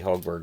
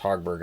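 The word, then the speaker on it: Högberg: 31 out of 35 it used to always be hogberg and now it's pronounced hogberg I guess I don't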